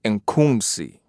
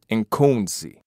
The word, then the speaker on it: Nkunzi: the proper, right knowledge, African pronunciation of this word mispronounced Khensu would be Nkunzi, I-N-K-U-N-Z-I, Nkunzi.